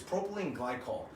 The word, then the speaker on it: propylene glycol: flavorings is back to look down to it pronounce it correctly it's propylene glycol which is or otherwise known as a good